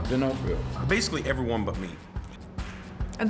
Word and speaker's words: D'Onofrio: Is it D'Onofrio or Yeah, D'Onofrio. D'Onofrio.